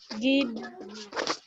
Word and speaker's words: guide: Gide. Gid. Gid. E is silent, huh? So we say Okay. gid.